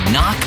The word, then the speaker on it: knock: letter in kite and a silent k is also the first letter in knock over if you don't